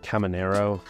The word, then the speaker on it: Caminero: Believe this guy's name is pronounced Caminero.